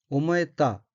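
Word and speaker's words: 思えた: 둘째 줄 오른편 어휘는 한자가 생각사자가 들어있고 일본어로는 오모에타 라고 읽으며 오모에타는 생각되다, 그렇게 느끼다는 뜻의 자동사인 오모에루의 과거형으로 오모에타는 생각되었다 라는 의미입니다.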